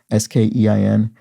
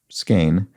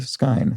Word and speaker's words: skein: uh skein which i was pronouncing skying maybe s-k-e-i-n is pronounced skein among the knitting community in the u.s or i've heard skeen from various europeans today is the first time i have heard skyne so sorry about that skein is how that